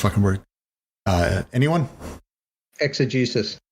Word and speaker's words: exegesis: and the problems of ex i never can pronounce this word uh anyone exegesis exegesis thank you prevail over other problems of use